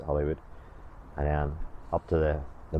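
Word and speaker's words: Holywood: Our Hollywood spelled with one L, so it's spelled Hollywood, but it's still pronounced Hollywood.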